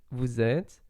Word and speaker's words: vous êtes: Pretty much the same with vous êtes. So you just pronounce vous and then zet, like with a Z. And you don't pronounce the final ES.